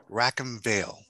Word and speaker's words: Rackham Vale: excellent and today we're going to talk about rack and veil did i pronounce that correctly you did okay excellent excellent